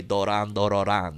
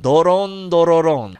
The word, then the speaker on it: Doron Dororon: I used to say Doran Dororan. Doron Dororon.